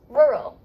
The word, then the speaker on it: rural: Your tongue is not touching any part of your mouth. Not. Roar. Yes. Roar. Like roar. rough. Roar. Right? Rough. Yeah. Roar. Rural.